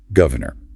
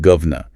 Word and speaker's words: governor: Or a word like governor. Slowly, it's 3 syllables. Governor. In a fast political chat, that middle vowel is elided and you get govna.